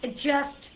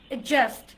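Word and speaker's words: adjust: ডিটাকে silent করে দেন। কি হলো? অ্যাডজাস্ট, অ্যাডজাস্ট, অ্যাডজাস্ট। জের উপর স্ট্রেস হবে।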